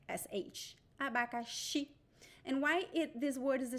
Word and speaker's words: abacaxi: And I talk about the 4 pronunciations of the letter X. And this word, it sounds like SH. Abacaxi.